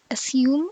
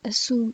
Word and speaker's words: assume: In BE, it is pronounced as assume and resume, while in AE, they are pronounced as assume and resume.